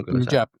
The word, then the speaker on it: Punjab: No, es Punjab. Bien. Sí, aunque si dice Punjab en español está bien, es correcto. Yo, más que nada, por las referencias a Kim, ¿no? Que es ahí donde hablan del Punjab.